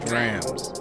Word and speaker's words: drams: dreams first and foremost it's pronounced drams not drums not drums what you